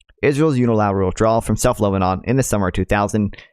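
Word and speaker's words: Lausanne: to pronounce it uh Lan Lan right Lan like Hassan but with an L Lon for a substantive uh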